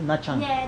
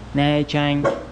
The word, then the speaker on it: Nha Trang: Nachang. Nachang. Yani T ve R beraber okununca Ç olarak geçiyormuş.